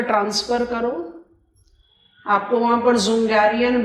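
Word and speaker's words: Dzungarian: आपको वहां पर जुंगारियन बेसिन दिखाई दे रहा हो। डी is silent.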